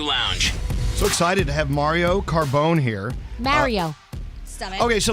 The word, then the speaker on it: Mario: your name I'm like Mario I said Mario and he says no Mario so I mean in the sort of Italian pronunciation of Mario I think that Mario